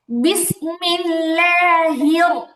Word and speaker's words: بسم الله: বিসমিল্লাহ হির, হির কেমন, এই হির হাটা রকে যে ধরতেছে এখানে র এর ধাক্কাটা হবে হির, বিসমিল্লাহ হির। বলেন তো উচ্চারণটা কি হবে? হির। আবার আবার যেন হে না হয়, হা আবার একারের মতো যেন না শোনা যায়। হি বলেই র এর দিকে একটা উপরের দিকে উঠে যাবে।